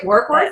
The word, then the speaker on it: Warkworth: Kelly lives in Warkworth. Did I pronounce that right? Warkworth?